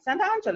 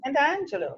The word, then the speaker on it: Sant'Angelo: Sant'Angelo. It's like Saint Angelo. There you go. See, Sant'Angelo. Yes, it's It's Saint Angel in it's Italian. Saint Angel.